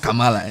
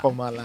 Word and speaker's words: Kamala: It's not Kamala. No, it's Kamala Harris.